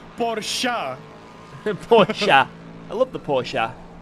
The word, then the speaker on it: Porsche: It's like when, right, I pronounce Porsche, just Porsche, but apparently it's Porsche.